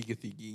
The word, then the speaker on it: Gathegi: It's Edie Gathegi.